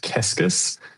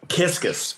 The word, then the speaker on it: Kecskes: It's a Hungarian surname, actually. It's pronounced Kecskes, but the spelling is very misleading.